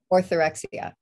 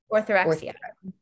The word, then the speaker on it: orthorexia: How do you pronounce it? Orthorexia. Orthorexia.